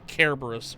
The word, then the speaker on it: Cerberus: Fight Cerberus. Or Kerberos, or whatever you want to call him. I think it's... I've always heard it pronounced Cerberus.